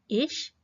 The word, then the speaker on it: ich: तो आइए देखते हैं कि इन तीनों किस्म के प्रोनाउंस को कैसे प्रोनाउंस करते हैं। इश, मिश, मिया, डू, डिश, डिया, एया, ZS, ihn, ZS, ihm, ihr, ihm, wir, uns, ihr, euch, sie, ihnen।